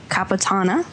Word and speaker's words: caponata: variety of olives and caponata. I'm not saying it right, you guys. Help me out. Caponata. Say with an Italian accent, it sounds better.